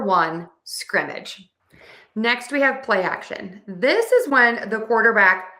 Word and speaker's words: play action: So to say play action, we are going to stress word one in this combination play. But don't forget, we also need syllable stress in word two because there are two syllables. So, we're going to stress a and this word.